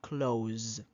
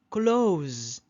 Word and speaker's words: clothes: months months okay and this one sounds exactly like the verb clothes clothes do you see clothes don't worry too much about this one that's go I buy a new clothes every two months every two months I buy new clothes every two months clothes that one here it sounds like Z you say clothes clothes